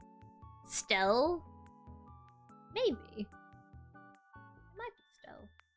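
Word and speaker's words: Stelle: It might be Stell. The E at the end is silent. Ah, so it is Stell.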